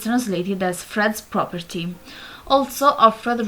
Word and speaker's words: Offred: Also, Offred resembles the pronunciation of the word offered, as if the handmaids were a gift.